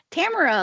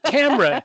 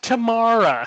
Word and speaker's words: Tamara: say, Tamara, like camera. Only different. Only different. That's how she'll get the 10 seconds. Tamara, not Tamara. I'm not tomorrow. It's not today. It's not tomorrow.